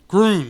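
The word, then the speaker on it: Grune: you're talking about uh gron gron yeah sorry it's spelled like green gr the the green of green Texas anyway yeah um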